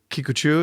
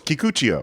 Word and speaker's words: Kikuchiyo: That's funny because I've always connected to Kikuchiyo. Is that how you say it? Yeah. Is that how you say it, Steve? Kikuchiyo. But this idea of... No, it's Kikuchiyo.